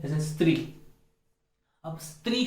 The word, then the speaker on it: स्त्री: यहाँ पर जो है वह तो आधा स और त्री है, लेकिन इस स्त्री को हम स्त्री बना देते हैं, ये गलत है। हमें स्त्री बोलना है, आधा स का ही उच्चारण करना है।